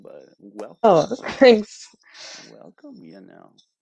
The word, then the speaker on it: Yanelle: Welcome, Yanelle. Am I pronouncing that correctly? Thanks Yanelle? for having me. Yeah, Yanelle. Yanelle. Yes, it's obvious.